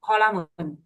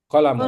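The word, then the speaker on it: قَلَمٌ: Kalau penaam qolamun qolamun pendek ya.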